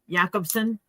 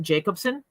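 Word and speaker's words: Jakobson: is I just know a lady that pronounces her last name yobs yakobson and in the US we would call it Jacobson yeah welcome moling at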